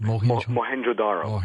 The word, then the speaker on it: Mohenjo-Daro: He has said that the melting bricks at this town you just mentioned, how do you pronounce that? Mohenjo-Daro.